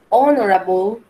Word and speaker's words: honorable: Pero en inglés también hay excepciones donde la H no suena como J. Suena o no suena, mejor dicho, también es muda. Por eso le llaman silent H o la H silenciada. Pasa lo mismo que nuestro idioma. ¿Cómo así, teacher? Sí, hay excepciones. Por ejemplo, tenemos honest, honorable, our.